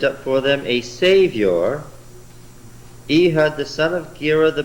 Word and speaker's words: Ehud: Could you be thinking of Ehud? Oh, Ehud.